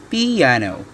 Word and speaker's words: piano: music dynamic markings number one piano which is pronounced piano is the word we use to describe quiet